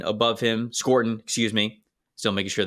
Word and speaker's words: Scourton: Yeah, I have Nick Scourton above him. Scorton, excuse me.